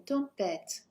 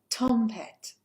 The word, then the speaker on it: tempête: The second part of the French word is normally the one where the most stress is for intonation. So let that be a little guide for you there. Il y a une tempête, not a tempête.